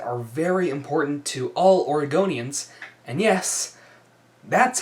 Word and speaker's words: Oregonian: So, being as Kate Brown is really the source of several issues that are very important to all Oregonians, and yes, that's how you pronounce it. Oregonian.